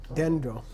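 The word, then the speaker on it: བདེ་འགྲོ: Dendro. Dendro. Dendro. Dendro. Happy going. Dendro. BDEN. BDE Oh, apostrophe Dendro. GRO. Dendro. It means the 3. Oh, there, Dewandroa. there. Okay, Dendro.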